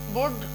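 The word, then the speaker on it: would: और उसके बाद टॉक, के पहले आया तो भी साइलेंट हो गया। टॉक माने बातें करना। वुड, अब यहाँ पे देखिए डी के पहले आएगा एल तो भी साइलेंट रहेगा।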